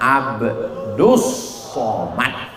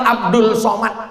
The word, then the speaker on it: Abdus Somad: itu Allah ini adalah hamba Allah Namanya Abdus Somad tapi kenapa dipanggil orang Abdul Somad salah tulis Abdus Soman saudaraku yang